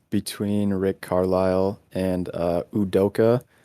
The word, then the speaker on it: Udoka: rick carlisle and uh udoka who i previously pronounced uh okuda which is not the nfl cornerback um because they both